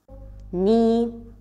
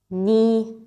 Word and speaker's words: knee: psychology p is silent words that start with K and K silent knee no knife knee no knife words that